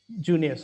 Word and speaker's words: Junius: Though it starts with I, they pronounce it as Junius.